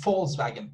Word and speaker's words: Volkswagen: be volkswagen with v volkswagen or if you want to be like perfect pronunciation that you you should say false wagon with f with f with f although